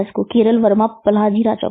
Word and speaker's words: Pazhassi: पल्हाजी राजा है, केरल वर्मा पल्हाजी राजा के। इसमें इसकी स्पेलिंग है VARMAPAZHASSI राजा।